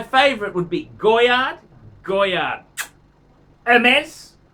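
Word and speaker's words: Hermès: would be Goyard Goyard Hermes with a silent H. Hermes.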